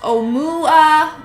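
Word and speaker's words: ʻOumuamua: And it was pronounced Oumuamua.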